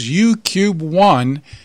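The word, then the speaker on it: UKube-1: Among one of the satellites we spoke about in the past few weeks was UCUBE-1, which is spelled UKUBE.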